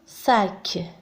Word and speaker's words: sac: آخر كلمة sac. sac. هنا الحرف S ينطق س لأنه في بداية الكلمة، أي أنه غير محصور بين دو فويل.